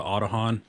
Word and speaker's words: Aodhan: go over these wheels these are the autohan i finally learned how to say them properly by uh going to their website but aod h a n these are the